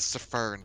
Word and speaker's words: Pfheavy: You know, he says there's a silent F, but there might be a silent S in front of it too. My name is not Pfheavy, thank you very much.